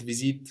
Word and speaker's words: visite: So we don't pronounce this E on visite. No, it's there to let us know to pronounce the T.